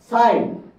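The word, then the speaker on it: sign: বুঝাচ্ছেন একই ভাবে দেখেন সাইন আর সিন এখানে সাইন এর মধ্যে জি সাইলেন্ট জি টা কিন্তু সাইলেন্ট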